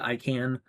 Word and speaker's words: ICANN: The IANA and ICANN, or ICANN, I pronounce it ICANN, the Internet Corporation for